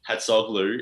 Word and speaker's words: Hatzoglou: I mean, look, it's a difficult one to pronounce, I suppose, but Hatzoglou is the correct pronunciation.